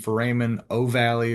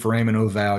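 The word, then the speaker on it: foramen ovale: So if a patient has a PFO or a patent famemen o valley or patent for ramen oval, you may hear it pronounced both ways.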